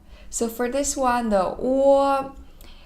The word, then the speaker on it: 我: When you pronounce this sound, your lips change from a small circle into a little bit bigger circle. So 我. But it's always in a circle, okay?